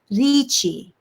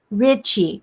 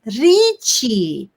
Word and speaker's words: Richie: in spanish tones responds lichi you try to imitate say richie no he teases confident it's richie just like this you notice that each syllable could rhyme with c and try again he